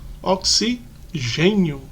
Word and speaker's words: oxigênio: Ela é responsável pela fotossíntese, ela é responsável por produzir o gás oxigênio. Veja que a palavra oxigênio tem um acento no E, então a gente fala mais forte nessa sílaba. Oxigênio.